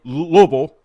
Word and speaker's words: Louisville: And I say it like you got peanut butter on the roof of your mouth.